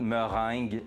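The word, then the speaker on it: meringue: word of the night merang merang is exactly pronounced pretty much the same way I think in English right so you're just Ang Ang at the end a little bit more more but merang is the French way to say it that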